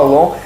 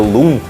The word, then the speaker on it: LOOM: O nome em si, muita gente acha que ele é em inglês e acaba pronunciando Lum, mas não tem nada a ver com o inglês. Ele é long mesmo, long. É como se fosse um mantra.